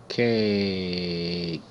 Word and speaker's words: cake: Cake. Cake. C. A. E is silent. It makes no sound.